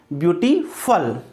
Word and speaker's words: beautiful: मैंने आपको कल भी बताया था BEAUTIFUL, तो जो वर्ड जिनके सफिक्स के रूप में FUL लगा रहता है तो उसका प्रोनाउंसिएशन फल, क्या कहो आप, ब्यूटीफुल।